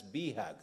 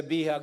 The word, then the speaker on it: BHAG: the big, hairy, audacious goals pronounced from Harvard Business School as BHAG. So when you hear me BHAG, say BHAG, no, I have to tell